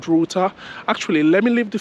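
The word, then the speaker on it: Ruter: checked for an app called routa so it's spelled r u t e r if you need to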